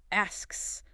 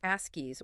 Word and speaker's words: asks: You need to make sure both the K sound, a little stop of air, and the final S sound, the hiss, are distinctly heard, but crucially without adding an extra vowel sound in between, like askies or deskies, which would sound unnatural.